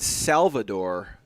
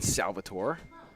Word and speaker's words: Salvatore: out of the field someone thinks i was saying salvador i'm saying salvatore i'm saying salvatore just because i'm saying it so well and pronounced that they think i'm saying it with a d it's not true it's